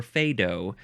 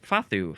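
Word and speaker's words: fado: a d o so it looks like it's pronounced fad or fedo uh but it's fathu FAU uh it is a noun from 1890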